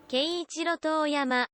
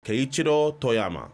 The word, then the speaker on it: Keiichiro Toyama: Keiichiro Toyama. Keiichiro Toyama.